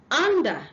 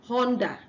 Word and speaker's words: under: The next one is under, not Honda.